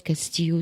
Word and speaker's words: Castillo: Alors, ceux qui ça intéressera, tapez son nom, c'est comme ça se prononce, Castillo, sans T à la fin.